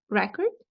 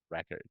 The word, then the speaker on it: record: cord record record yeah this one is is fun because we have record and record right but this one right here is record record what is the difference record and record verb and noun the verb is record